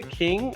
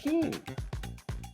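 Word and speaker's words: Qin: born Ying Zen Ying Zen and became the king of the state of King King q i n he standardized the written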